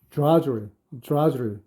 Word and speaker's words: drudgery: 조금 한글 표기가 조금 어려울 때가 있죠. 예를 들어서 트리하지 않고 우리가 추리하잖아요. 트럭하지 않고 트럭 하는데 이것도 마찬가지로 드라, drudgery 이렇게 발음이 들리기도 합니다.